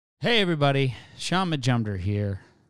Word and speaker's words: Majumder: hey everybody Shaun Majumder here it's pronounced majumder pretty easy if you look at